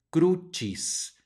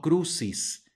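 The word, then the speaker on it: crucis: el español o sea cuando veamos una c seguida de una I como es el caso de esta palabra o seguida de una e va a sonar como Che por eso esta palabra se pronuncia cruchis no cruces cruces lo mismo Aplica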